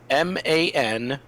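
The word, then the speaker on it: Maanan: tribe name spells none it is spelled ma n a a n man man alright so I'm gonna hit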